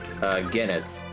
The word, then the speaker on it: Goenitz: Genitz, it's spelled Goenitz.